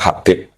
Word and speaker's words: Habib: Itu di harakatnya kitab itu ada yang nulis khubab. Tapi yang benar Oh, nggih. Yang benar itu bacanya Habib.